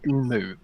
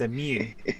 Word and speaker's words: emu: Why do you say emu? It's emu. Emu. It's a mew, not emu.